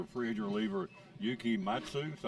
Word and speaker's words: Matsui: So here the Padres are after a free agent reliever, Yuki Matsu. Is that how you say his name?